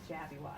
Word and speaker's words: Jabbywockies: So I am saying it right then when I say Jabbywockies. Jabbywockies. Yep. Okay, Often called Jabberwocky, but no.